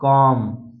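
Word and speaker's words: comb: जब भी किसी वर्ड में अगर यम के बाद बी आता है तो वहां पर बी साइलेंट रहता है। जैसे जैसे थम, थम, उसके बाद कॉम, बॉम, डम, तो इन सभी वर्ड में आप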